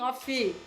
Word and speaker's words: of: Essa daqui tem uma pegadinha, porque na verdade o F, ele tem um sonzinho de V. Você vai falar of. A gente escreve com F, mas a gente pronuncia com som de V.